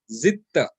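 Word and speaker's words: زدت: Now again, here the word while writing we will write zidta, but while pronouncing, because dal and ta both have same makhraj, okay? Because dal and ta have same makhraj. That is the reason we will pronounce this as this dal is dropped, and we pronounce it as zitta, zitta.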